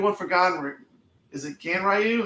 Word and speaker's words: Ganryu: Is it Ganryu? How do you say that? Genryu. Yeah. Genryu.